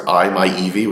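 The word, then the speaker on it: i-MiEV: a Mitsubishi image which is actually how you pronounce that car it's I my Eevee which is so weird um um but as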